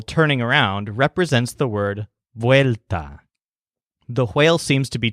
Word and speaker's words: vuelta: or chase its tail the word vuelta with a stress on whale whale 'te means return but